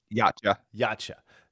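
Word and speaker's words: Yautja: Yacha.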